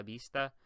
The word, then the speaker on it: vista: The V in Spanish is actually pronounced like a B. I know that's weird, but it's pronounced like a B. So you would not say hasta la vista.